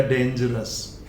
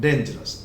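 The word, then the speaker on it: dangerous: Then डेंजर एक noun है, उससे हमने बना दिया डेंजरस, यानी लास्ट का OUS अस हल्का सा ए है जो मैंने इस ऊपर चंद्र के रूप में लगाया है, डेंजरस।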